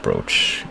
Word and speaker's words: brooch: I'm pretty sure that, even though it is pronounced brooch, you spell it with 2 O's, but guess we're doing that.